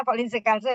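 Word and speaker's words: Folin-Ciocalteu: Folinsikalse bacanya volinsalse ya itu adalah membentuk senyawa kompleks berwarna dengan asam aminotirosin yang dapat diikut absorbansinya pada panjang gelombang tertentu.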